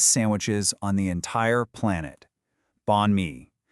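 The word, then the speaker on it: bánh mì: Bonmei, it's pronounced bonme.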